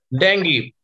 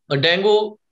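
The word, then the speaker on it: dengue: डेंगी, डेंगू कहते हैं normally हम लोग, वैसे उसका सही प्रोनाउंसिएशन डेंगी है, ठीक है?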